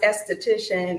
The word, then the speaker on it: aesthetician: you do that yes they're both uh pronounced esthetician it's just one is